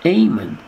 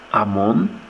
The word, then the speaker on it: Amen: But in English, it's pronounced Amen. But when a Jew says it, it's Ammon, Amen.